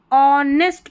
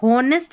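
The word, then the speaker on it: honest: यह है हमारा ऑनेस्ट पढ़ना है। इसको ऑनेस्ट नहीं पढ़ना है। एच यहां पर साइलेंट है।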